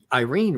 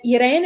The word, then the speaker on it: Erene: are you talking about but Iran is spelled this way it's the gr because it's a Greek name yes and it's spelled